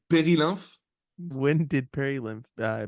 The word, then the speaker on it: Perilymph: to say this and please correct me if I'm wrong in this Peril lymph am I saying okay pery yeah in French you would say pery when did Peril lymph